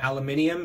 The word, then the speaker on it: aluminium: is in rust-oleum metallic aluminum or aluminium if you're in europe that's how they pronounce it um steering column one